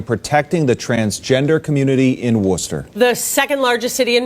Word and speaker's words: Worcester: And yes, if you're not from Massachusetts, it's spelled like Worcester, but it is pronounced Worcester.